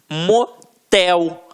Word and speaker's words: motel: A última sílaba é a tônica. Então, exemplos: urubu, motel, marajá. Reparem que na hora da pronúncia, de forma mais aguçada, você vai perceber que realmente a pronúncia da última sílaba ficará mais forte. Aqui, ó, urubu, motel, marajá. Então, realmente, a oxítona tem a sílaba tônica na última sílaba.